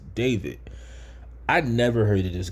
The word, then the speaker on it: D4vd: That's how I thought it was pronounced, but it's David.